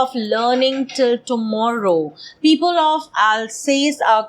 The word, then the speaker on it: Alsace: Alsace is the name of the province. In French, probably it's pronounced as Alsace. I'm not too sure.